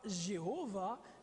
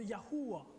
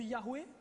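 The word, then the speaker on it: יהוה: yeux au complet yhh la prononciation très certainement serait non pas Jéhovah mais serait très proche de yahua vous avez entendu Yahoué déjà ok Yahoué mais ce serait très simplement plus yahua parce que si on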